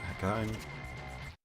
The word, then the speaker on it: Hakone: I want to Hakone. Or Hakone, I keep saying it wrong because I want to pronounce it like an English word.